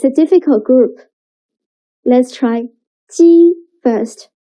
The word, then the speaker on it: 鸡: 鸡. Now read after me. 鸡. 鸡. The next one is 七.